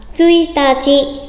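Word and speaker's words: 一日: À, tsuitachi. Tsuitachi, mùng 1, tsuitachi.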